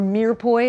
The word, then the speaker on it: mirepoix: the mirrored the mirepoix you remember mirepoix or mere boy as Americans saying it's simply celery onion